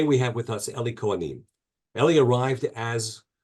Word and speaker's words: Cohanim: org sure shortly after the conclusion of our conversation so today we have with us Ellie coim Ellie arrived as or she pronounced it coam I I wanted to